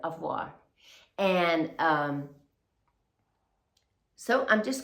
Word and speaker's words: au revoir: So, that's why you see the title says Avoa, but um or avoir. That's how you say it. Avoir.